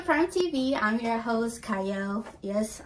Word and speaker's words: Qiayel: TV I'm your host cyle yes I know it starts with a q but it is pronounced cyle and today I have